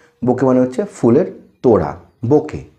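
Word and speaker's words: bouquet: মানে হচ্ছে ফুলের তোরা বোকে বোকে স্পেলিং হচ্ছে বি ও ইউ কিউ ইউ ই T pronunciation টা কিন্তু পুরো বোকে বি ও ইউ কিউ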